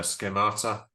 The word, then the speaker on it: schemata: Let's just practice the pronunciation. Schemata, everybody. Schemata. Schemata. Schemata.